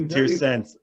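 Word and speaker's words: Torreense: You're playing for Tirsense. Yeah, Oh, I pronounced it too long of an E. Tirsense.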